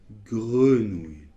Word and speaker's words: grenouille: Alors on peut l'exagérer en le roulant presque, mais normalement non ! C'est , grenouille. Allez un dernier qui crée aussi beaucoup de difficultés, c'est...